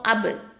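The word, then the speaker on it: ب: Back உண்டான மஹரஜ் என்ன? உதட்டின் ஈரமான பகுதியிலிருந்து உச்சரிக்கக்கூடிய எழுத்து. ஓகேவா? ஸோ அப், இபு, உபு அப்படின்னு சொல்லும் போது உங்களுக்கு அந்த ஈரமான பகுதி நல்லாவே உங்களுக்கு தெரியும்.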